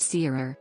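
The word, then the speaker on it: tirere: These stick dances are tai rare, pronounced seerer, are performed only during major festivals.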